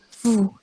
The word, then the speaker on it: fou: Terus ada FOU dibacanya fu. Terus ada NOUS nose dibacanya nu. Yang loop atau loop itu artinya serigala. Kalau fu itu artinya Anda. Fu, Anda. Terus ada yang FOU itu dibaca fu artinya bodoh.